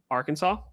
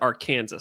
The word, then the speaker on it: Arkansas: from Arkansas. Yep. I almost said Arkansas. I'm like, that's not the correct pronunciation.